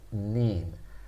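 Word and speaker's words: 人: chinese pronunciation of mean when it's used as a counter it's pronounced nin but it's more frequently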